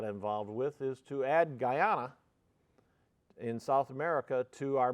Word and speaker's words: Guyana: The Ghana mission we're talking about, or Guyana, I always mispronounce it. Guyana is located in northern and southern South America, so it's right next to Venezuela.